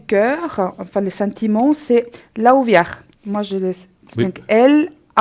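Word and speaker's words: Lauviah: Et puis celui-là du cœur, enfin les sentiments, c'est Laouviar. Moi, donc L-A-U-V-I-A-H. Laouviar, d'accord.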